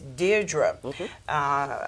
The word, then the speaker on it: Deirdre: And then to my left we have our special guest, which is, and I want to pronounce that right, it is Deirdre. It's Deirdre.